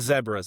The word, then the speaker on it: zebras: The Grandview zebras, or the zebras, is my wife is from South Africa and Canada, so she says the zebras. That is the proper pronunciation, but we southern it up and say zebras. Yeah.